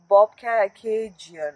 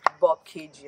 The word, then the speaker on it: Bobcaygeon: actually live here so bobcation is the is the place name that's it wasn't like what we pronounced earlier you know bob kg and like pigeon you know kind of thing